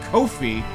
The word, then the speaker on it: Ko-fi: That's right, it's Ko-fi. I now know the official pronunciation.